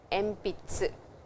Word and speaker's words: えんぴつ: And over here you will notice that when we pronounce, we say M, but when we write, the syllable is N. Enpitsu.